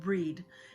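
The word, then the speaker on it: Brigid: she says it brid it's pronounced breed and this is the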